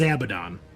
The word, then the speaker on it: Abaddon: It's not Arbites, so, but it is Abaddon. So Not Abaddon?